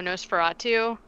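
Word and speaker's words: NOS4A2: hulu now the show nosferatu uh and it's spelled nos the letter four the letter a and then two like a license plate knows ferrara too and it's based on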